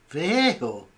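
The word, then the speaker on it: Vallejo: Viejo. Viejo. Viejo is the correct. Viejo. Viejo is the correct pronunciation.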